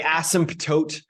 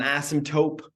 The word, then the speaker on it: asymptote: a vertical asymptote and I know it looks like asymptote but that p is silent and it's not an asymptote it's an asymptote my wife always gets